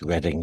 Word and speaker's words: Reading: And just to nitpick, it's Reading Jail. Thank you. Yeah, but I ain't a Brit, so I am allowed to say it right.